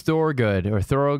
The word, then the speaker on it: Thorogood: So on this night, we have George Thorogood.